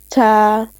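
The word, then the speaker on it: ت: Sophia, soft means you have to place your tip of the tongue at the heel very softly, very gently. Read. Ta Ta. is your tip of tongue touches softly at the heel.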